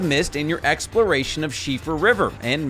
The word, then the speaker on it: Siofra: in your exploration of shifa river and maybe you learned how to pronounce shiffer river for yourself if there's